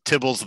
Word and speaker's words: tibble: So I was convinced that he had named Tibble after Tibbles the cat because he's from New Zealand. But no, he just named it Tibble because that's how people were pronouncing TBL.